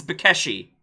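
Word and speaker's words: Békésy: Yes, so how you pronounce this is Bakeshi. If you add an A after there, he's Bakesha.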